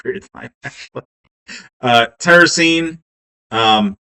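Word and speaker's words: tyrosine: Uh tyrrosene. Um tire sounds like Y is the sort of pronounced sound in that.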